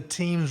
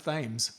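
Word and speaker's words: Thames: course back along the team's river for about 2.5 km before turning right across the bridge. And I know the river isn't pronounced teams. It's pronounced ths.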